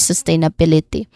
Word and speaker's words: sustainability: That's sustainability.